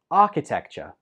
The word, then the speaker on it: architecture: Number six is architecture. Architecture. How many syllables did you hear? This one has four syllables, so it's quite a long word for English.